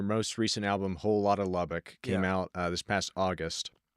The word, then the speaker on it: Lubbock: But your most recent album, and me not being from Texas, how do you say Lubbock?